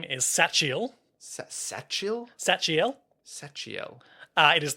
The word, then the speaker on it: Sachiel: Apparently, the ch in Sachiel is pronounced as a hard K. Sachiel.